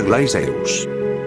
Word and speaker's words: Glacius: Se pronuncia Glaceus.